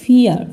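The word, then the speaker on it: vier: এখানে আমি এটা বলিনি ফাউটা উচ্চারণ হবে ফ এর মত ফাউ দিয়ে তো আর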